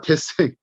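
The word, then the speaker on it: dessin: 혹시 디자인의 프랑스 발음이 어떻게 될까요? 디자인의 프랑스 발음. 데생입니다. 데생. 데생이에요. 데생이에요.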